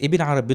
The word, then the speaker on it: Ibn Arabi: It's Ibn Arabi betul, without the al.